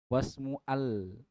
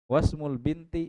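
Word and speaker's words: وَاسْمُ الْبِنْتِ: tengah dia tidak terbaca langsung ke lam wasmul bukan lagi wasmu Al gak ada a-nya lagi ya Sai Hamzah wasul juga wasmul binti zainabu dan nama anak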